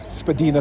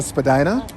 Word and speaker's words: Spadina: the because everybody keeps talking about this whole Spadina Spadina and so they explained to me what why